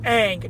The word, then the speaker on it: Aang: to Michael Jerome the main character's name is Aang not um what the pronounced in the movie that's a goddamn cave